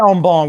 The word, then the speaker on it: en banc: I say en banc with a silent C, but I guess at some point you're probably right.